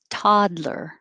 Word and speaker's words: toddler: toddler so i guess i should put a little mark by that that first d because the d and the l are made in the same place your tongue goes up here todd and hold it until you release it for the l ler toddler 12 wheel it's not exactly